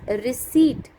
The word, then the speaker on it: receipt: In the first one, the word is receipt. The silent word is P. Here P is silent.